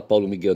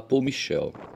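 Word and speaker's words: Paul-Michel: Mas a gente não deve falar Paulo Miguel, não. Deve falar Paul Michel, Paul Michel Fou.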